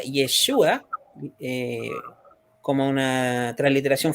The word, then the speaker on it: Yeshua: cierto que es yeshua que Jude se pronuncia yeshua como una tras la